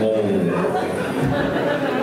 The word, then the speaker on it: Louisville: Louisville. One syllable.